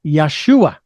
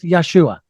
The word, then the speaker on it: Yeshua: That is wrong, because we can pronounce the Hebrew name of that man, and it is not Jesus. That is Greek. But the Aramaic, if I'm correct, is Yeshua.